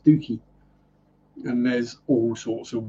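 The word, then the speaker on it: Stiffkey: there was stooky yeah it's not pronounced stiffy it's pronounced stooky and there's all sorts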